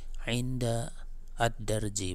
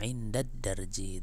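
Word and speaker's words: عند الدرج: Ya, kita ambil yang ada di sini, misalnya ini inda, kemudian ada ad-darji, maka cara bacanya bukan inda ad-darji, bukan, tapi langsung indad darji, itu kan.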